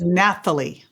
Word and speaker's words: Nathalie: So it sounds like Nathalie. Yes, because French people because French people have no clue what to do with H's. They don't pronounce them.